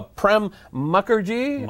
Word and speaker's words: Prem Mukherjee: now we are joined by our guest uh prem mukherjee pronouncing that correctly yes you are hi you are